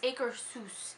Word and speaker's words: Akershus: was from Norway and he said think of it like Seuss as in Dr Seuss and it's acre seus is how he was saying it say it wrong every